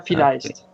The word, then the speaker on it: vielleicht: I've never seen it spelled, so I didn't know how to pronounce it. Yeah, vielleicht.